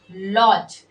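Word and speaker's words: lodge: पर डी को हमें पढ़ना नहीं है, डी साइलेंट हो जाता है। जैसे हो गया ब्रिज, लॉज।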